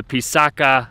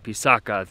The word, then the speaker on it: Pisac: All right, guys, that is gonna do it for the Pisaca archaeological site. It's Pisac, but they call it Pisaca, the indigenous people.